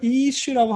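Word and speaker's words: אִישׁ: 이슈라고 하면은 음절이 몇 개예요? 하나죠. 하나밖에 없어요. 그러니까 액센트가 여기밖에 없습니다.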